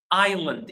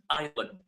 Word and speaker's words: island: We So basically in that word the S is silent. The S is silent. Island. Exactly. So how do we pronounce this word? We pronounce it island. Island.